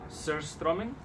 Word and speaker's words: surströmming: called Han I'm saying it wrong it's called surstromming and but it's fermented herring and it's something